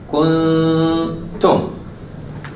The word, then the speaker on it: كنتم: I'm saying kun, but I didn't pronounce the ta yet. Kuntum. When I finish the two haraka, then I pronounce the ta. But here, when I say may, I already pronounce the ya. So basically, I'm doing the two haraka right here, in this area. But here in the kuntum, I'm doing the two haraka before the ta.